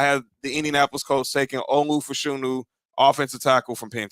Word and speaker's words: Olu: Yeah, I was going to just say the first two, Olu, like Nas' pops.